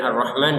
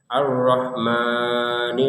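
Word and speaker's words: الرحمن: Kemudian arrahman juga sama. Arrahman jangan arrahmani. Ini kelebihan. Kemudian yang perlu diperhatikan juga di kata arrahim ini.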